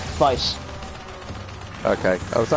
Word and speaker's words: Weisz: Weisz. Okay. Oh, is that how you pronounce it? I thought it was Waze. It's a German name, so W is pronounced as a V.